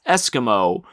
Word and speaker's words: Esquimaux: down amongst the diabolist Esquimaux. I'm guessing that's Eskimo, but it's spelled like Esquimaux, but we're going to go with Esquimaux.